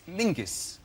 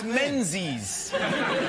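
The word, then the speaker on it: Menzies: His name is Mingus. Mingus. Yes. Goss. Yeah. Yeah. But it's pronounced it's it's spelled M E N Z I S.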